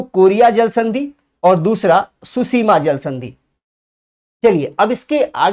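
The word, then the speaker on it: Tsushima: T silent है, इसमें ध्यान रखिएगा, सुसीमा में भी टी साइलेंट था, ठीक।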